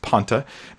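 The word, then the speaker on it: πάντα: That's that word panta. That's how it's pronounced, panta, in the Greek.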